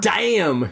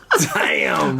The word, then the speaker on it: Daim: But it's spelled, the name of the candy is DAIM. So I'm sorry in Swedish it's like damn or something like that, right?